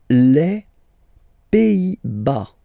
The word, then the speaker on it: Pays-Bas: Les Pays-Bas. Final S here, not pronounced. Same thing here. Pays, and then bas. Les Pays-Bas.